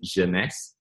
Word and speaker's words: Jeunesse: products I you know so Jeunesse is actually French for youth the word actually means youth in French so it pronounces Yonex it took me a